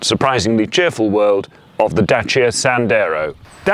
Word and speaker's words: Dacia Sandero: the chief but surprisingly cheerful world of the Dacia Sandero - yeah yes that is how it's pronounced is Renaud's romanian outpost and it's aiming